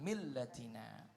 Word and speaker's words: ملتنا: Di situ ada tasydid, jadi dibacanya harus ada pantulan millatina.